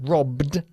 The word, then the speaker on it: robbed: Y las dos Bs de la palabra robbed se pronuncian de forma mucho más fuerte.